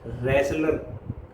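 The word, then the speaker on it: wrestler: पहलवान क्या कहते हैं रेसलर इसमें डब्लू जो है साइलेंट रहता है इसलिए इसको रेसलर बोलते हैं प्रोनाउंस करते हैं ए टॉल मैन विद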